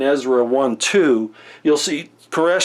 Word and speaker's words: Koresh: I did this and I talked about Cyrus Koresh is how it's pronounced actually in Ezra there are two different